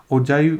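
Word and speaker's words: ogive: मेरी प्रोनाउंसिएशन ठीक है तो इसको ओजाइव बोलते हैं, ठीक है, या कुछ टीचर्स को मैंने ओगिव बोलते हुए देखा है, तो आप देख लीजिएगा इसकी एग्जैक्ट प्रोनाउंसिएशन क्या है। ओजाइव मेरे हिसाब से करेक्ट जो है इसकी प्रोनाउंसिएशन है, ठीक है।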